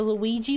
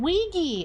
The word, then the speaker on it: Ouija: A Wega board? A Luigi board?